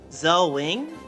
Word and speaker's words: Zelwing: Um, Zelwing. Zelwing, is that how you pronounce your name? I hope I pronounced it right. Zelwing Yep. Zel as Zelda and then Wing as Rwing from Star Fox.